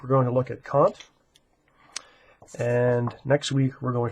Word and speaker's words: Kant: But it's important to recognize that the proper way to pronounce his name is with an ah sound in his name.